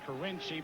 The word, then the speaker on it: Carinci: names you've got kiny is it kiny or carinci he pronounces it carinci but he really doesn't